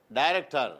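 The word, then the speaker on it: director: சொல்லணும் குமார் என்ன டைரக்டர் எக்சலன்ட் என்ன சொல்லணும் டைரக்டர் காரணம் என்ன ஐக்கு அடுத்தடுத்து என்ன வந்துருக்கு இ வந்துருக்கு டைனே சொல்லணும் அந்த உச்சரிக்கும் போது ஐ உச்சரிப்பு வரணும் டை டைரக்டர் இங்க என்ன சொல்லணும் ஐக்கு அடுத்த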